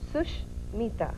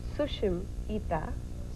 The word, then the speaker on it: Sushmita: Well, like I said, there are two ways you pronounce it. The first way is Sushmita. Okay. Sush means good. Okay. Mita means friend, a good friend. Okay. And if you pronounce it the second way, which is Sushim Ita. Sushim Ita. Sushim means beautiful, Ita means eyes.